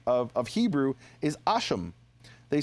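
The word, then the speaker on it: השם: of it we say hashem which in our pronunciation of of Hebrew is asham. They say in Aramaic shima which is the name. And in their Hebrew, their Samaritan Hebrew, they say asham, which is very interesting if you read 2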